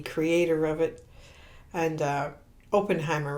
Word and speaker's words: Oppenheimer: actually met the creator of it and uh openen Heimer right is that how I say his name Robert Oppenheimer Robert opener okay yes and uh this gentleman